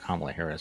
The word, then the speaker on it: Kamala Harris: joe biden has picked kamala harris it is pronounced kamala harris by the way just a note to tucker